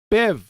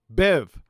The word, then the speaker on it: Biv: what roy g bev bev not bef bev how do you spell